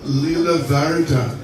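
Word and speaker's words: Lielvārde: We were in Lila Varda, that's the right pronunciation, Lila Varda, we were there, and we had Prabhupada kata.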